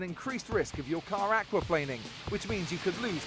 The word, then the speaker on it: aquaplaning: the things and remember the pronunciation is aqua planing not planning okay the very famous